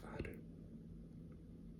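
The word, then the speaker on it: ある: This character for the Chinese pronunciation is read as you, but its Japanese pronunciation is aru.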